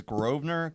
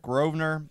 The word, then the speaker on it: Grosvenor: I think it's Grosvenor. Grosvenor. Maybe the S is silent.